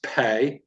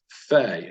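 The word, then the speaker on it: פ: there is a degashe it is pay so p is in parlor and without the negation is Fe as in fan f-a-n next one is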